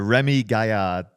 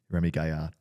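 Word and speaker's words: Rémi Gaillard: Have you ever seen a Remy Gaillard video? That's my French pronunciation. Remy Gaillard.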